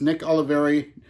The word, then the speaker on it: Nick Oliveri: with heavy psych sounds well heavy psych sounds pronounced Nick Oliveri no hits at all volume seven so Nick